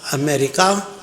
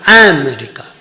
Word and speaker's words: America: engineer Force what about America it's noun it is not America America the syllable is on the second one a miracle America America